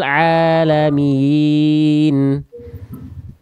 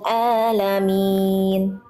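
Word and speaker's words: الْعَالَمِينَ: Oke, ainnya kuatkan lagi, lam sukunnya jangan terputus. Bil ke ainnya tidak boleh putus lamnya dan ainnya kuatkan lagi. Alhamdulillahi rabbil alamin. Oke. Alhamdulillahi rabbil alamin. Nah, tapi ainnya jangan kurang. Lamnya nggak terputus, tapi ainnya jangan jadi hamzah.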